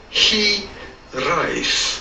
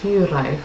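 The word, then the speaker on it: hiraeth: in works we are looking at how to pronounce he rice he arrive he lies your life he rise it'd be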